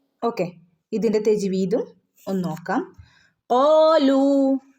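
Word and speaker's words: قالوا: ഇതിന്റെ തജ്വീദും ഒന്ന് നോക്കാം കാലു ഇവിടെ കാലു വാവ് മദ് ഉണ്ട് രണ്ട് ഹറക്കത്ത് നീട്ടി ഓതണം ട്ടോ കാലു ഇവിടെ അലിഫിന്റെ മുകളിൽ സുക്കൂന് വന്നാൽ നമ്മൾ ഇവിടെ പ്രത്യേകിച്ച് ഒരു ശബ്ദം കൊടുക്കുന്നില്ല അപ്പൊ നമ്മൾ അതിനെ അതിന് ഒരു ഉച്ചാരണം ഇല്ലാട്ടോ ഓക്കേ കാലു സുബ്ഹാന ബിന്റെ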